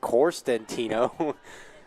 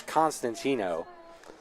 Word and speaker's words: Constantino: coming momentarily foreign I believe I pronounced it corstentino and uh one of the earlier Innings it's Constantino a tough name to pronounce but yeah we've played